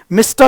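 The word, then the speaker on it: Mistah: मिस्टा कर्स देखो मिस्टर नहीं बोला मिस्टा बोला जानबूझ करके लैंग्वेज को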